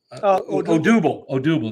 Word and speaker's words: Odubel: I always mess up his name. Herrera. Odubel. That's how you say it, yeah.